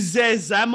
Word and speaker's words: Zenzam: Oui, mais ne prononce pas le N comme j'ai dit là. Hein? Il faut dire Zenzam et non Zen. Je ne veux pas que le N là se ressente.